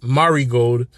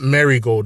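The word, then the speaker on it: Marigold: is named dream star fighting marod and the pronunciation is Mari gold and uh and not marry gold as some people have been saying so it's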